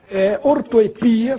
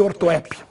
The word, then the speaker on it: ortoepia: Também temos as duas, mas a forma ortoepia, sem acento, é muito mais usada no meio acadêmico do que ortoépia.